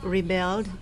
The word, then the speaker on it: rebelled: through some words first this is rebelled it is a verb so rest on the second syllable this is in the